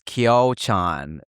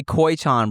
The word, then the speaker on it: Kyochon: Yeah, so you end it with the with a Kyoy like like there's a Y after the O, but the Y is before the O.